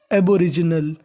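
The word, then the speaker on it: aboriginal: जी एन ए एल इसे पढ़ना है नल कहने का मतलब अगर आपको इंग्लिश में एल लिखा मिले तो उसका उच्चारण होता है अल क्या होता है अल तो पूरी मीनिंग बन गई एबोरिजिनल एबोरिजिनल एबोरिजिनल एबोरिजनल का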